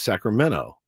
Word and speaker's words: Sacramento: We don't pronounce T's either in California. Sacramento is Sacramento.